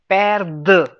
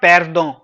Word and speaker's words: perdre: I'm intentionally pronouncing perdre. All right. It's not pardon. It's perdre.